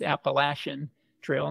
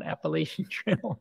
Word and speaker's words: Appalachian: I think it's maffy I've been told I pronounced it wrong and actually it's Appalachian Trail not appalachi Trail told so so uh yeah I went up